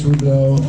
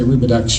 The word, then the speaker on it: Robidoux: True Legacy for Lis rubido I'm saying it right rubido some people say rubex you know living her all your life they say rubex I'm always correcting that I know it's rubu um your your family has